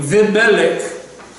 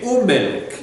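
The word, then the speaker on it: וּמֶלֶךְ: Okay, so, but instead of saying Vimelech, because that's awkward, Vimelech, so you say Umelech instead.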